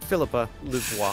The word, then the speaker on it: Philippe Louvois: How do you pronounce it? Philippe? No, that's a man's name. Philippe Louvois.